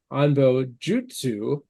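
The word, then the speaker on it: Anbo-jyutsu: In proper Japanese phonetics, this would be pronounced Anbo Jutsu.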